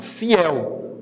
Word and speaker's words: fiel: Então, fiel. Ó, a última sílaba é tônica, ó.